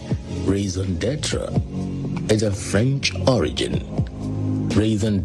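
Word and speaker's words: raison d'être: Raisendra is a French origin.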